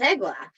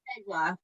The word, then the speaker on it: Eglaf: So we'll so it's Eglaf. Yes. It's Eglaf, and it is.